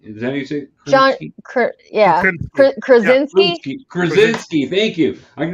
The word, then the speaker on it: Krasinski: back to um to John um is it kransky is anything yeah Krasinski Krasinski thank you I can never say his